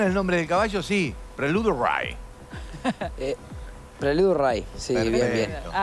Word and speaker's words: Prelude Rye: ¿Le pronunciamos bien el nombre del caballo? Sí. Prelude Ray.